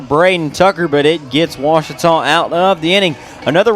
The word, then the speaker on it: Ouachita: Back in Texas, everybody pronounces it Wichita, but really, it's Washita. Washita. Washita. How would you pronounce it? Washita. Washita. It's Washita Baptist University. Get it right. It's Washita, people.